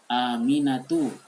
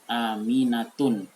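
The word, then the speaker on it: آمِنَةُ: Aminatu, itu betul, jangan disebut Aminatun, itu keliru.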